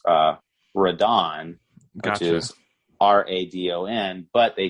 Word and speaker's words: Radon: called rodin and the original movie is actually pronounced uh radon which is r-a-d-o-n but they changed it for